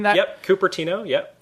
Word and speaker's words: Cupertino: turns up to a local council meeting in Cupertino. Am I pronouncing that? Yep, Cupertino. Yep, Cupertino.